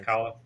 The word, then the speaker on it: Kahlo: Yeah, Kahlo.